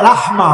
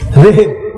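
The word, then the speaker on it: رحم: জড়াইয়া ছিলাম ছিলাম না এটাকে আরবিতে বলা হয় রাহমা বা রেহেম কি বলে রেহেম আমরা বলি রেহেম সঠিক উচ্চারণটা হবে রাহমা রেহেম বললেও ভুল হবে না মানে জরায়ু মায়ের জরায়ুতে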